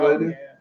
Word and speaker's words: Palladium: Was it Oh Palladium? yeah, you said it right.